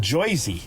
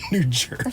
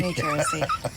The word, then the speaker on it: New Jersey: New York pronunciation was nobody says joisy that's a cartoon pronunciation of New Jersey and uh we say no we're not from New Jersy we're from New Jersey from New Jersey from the nice part